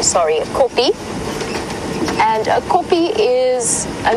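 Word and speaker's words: kopje: nice in areas we know as copies a copy is a little Hill and it's spelled k o p j e copy is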